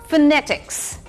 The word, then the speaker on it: phonetics: नहीं PHONETICS इज phonetics. Phonetics. Phonetics नहीं. The stress is on the second half of the word.